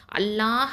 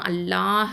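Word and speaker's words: الله: இப்போது 7 வல்லின எழுத்துக்கள் நம்ம பார்த்துருக்கோம் இல்லையா, 7 வல்லின எழுத்துக்கள், அதுக்கப்புறம் ரா, அதுக்கப்புறம் அல்லாஹ் அப்படிங்கிற வார்த்தையில் வரக்கூடிய லாம், இது வந்து இந்த 3மே தான் வல்லினமாக உச்சரிக்கப்படும்.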